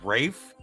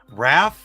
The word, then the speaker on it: Raph: I keep calling you Rafe. Is it not Rafe? Raph.